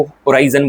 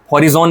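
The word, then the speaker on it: horizon: का मिलन होता है उसको होराइजन बोलते हैं। हॉरिजॉन नहीं बोलते हैं। कई टीचर बोलते हैं ना हॉरिजॉन। ठीक है? एच साइलेंट है यहां पर।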